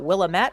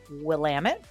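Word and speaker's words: Willamette: it's funny I had somebody yesterday say it's pronounced will lamit not willamet well maybe it was at one point but this is how we say it here in Portland is Willam it so if we kind of scroll in here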